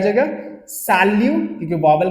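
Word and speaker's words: salut: तो देखो पहला सैल्यू, ये टी प्रोनाउंस नहीं होगा क्योंकि वॉवल के बाद आ रहे। सैल्यू, जमापेल, हमेशा फ्रेंच में याद रखना एक साथ वर्ड को रीड करते हैं, जमापेल, जमापेल, ओके।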